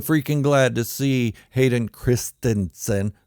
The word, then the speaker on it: Christensen: glad to see Hayden Christensen that's how it's pronounced kristinson not Christiansen back in Star Wars